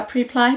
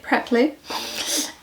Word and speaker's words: Preply: J'ai appris qu'on disait pas Preply, mais Preply. Ce qui est plus logique en termes de phonétique anglaise, mais bon, je pense que c'est à la française de le prononcer Preply.